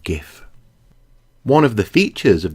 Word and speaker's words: GIF: it should be pronounced jiff but graphics starts with a hard G so I'm gonna stick with gif one of the features